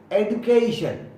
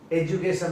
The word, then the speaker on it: education: अब ये बहुत ही पॉपुलर वर्ड है अपना, EDUCATION, एडुकेशन, एडुकेशन, एजुकेशन नहीं। एडुकेशन।